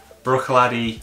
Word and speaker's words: Bruichladdich: brew take the ladder brawny my goodness you butchered that Bruichladdich laddie eight year old this is another one